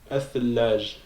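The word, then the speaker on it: الثلج: Donc, on sait qu'on va dédoubler le ta. Donc, puis on va prononcer comme ça. Athallaj.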